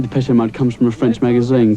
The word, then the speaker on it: Depeche Mode: And mode is just the word for fashion in French. Depeche Mode. And we just decided we liked the sound of that name. And we chopped off the accent and we just kept the pronunciation.